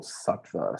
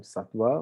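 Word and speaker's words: sattva: is what we call satwa some people spell it with a wa satwa still pronounce the same satwa or SVA okay this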